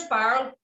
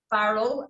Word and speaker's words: farl: So the word farl, it's pronounced farl, F-A-R-R-E-L, and it derives from the old Scots word fardel. Did anyone ever know it was called a fardel? No, but I always thought it was called far, not farl. Yeah. No, it's F-A-R-L.